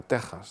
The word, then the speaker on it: Texas: de los topónimos y nombres como Quijote o que o México lo han mantenido pero se pronuncian México y se pronuncia Texas no y se pronuncia Quijote bien pues el tema